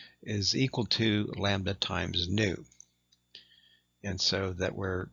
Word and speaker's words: nu: And so we use the Greek letter nu, pronounced nu. It looks like a V in our alphabet, but it's called nu.